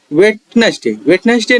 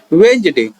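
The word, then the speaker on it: Wednesday: जैसे कि वेटनेसडे नहीं होता, यह होता है वेंसडे। ये सिर्फ वेटनेसडे लिखा जाता है लेकिन इसे पढ़ा जाता है वेंसडे।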